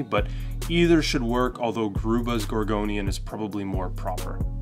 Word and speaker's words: Grube: Now the Grube's Gorgonian is the proper way to pronounce this name. I'm just so used to calling it the Grub's Gorgonian because that's what we've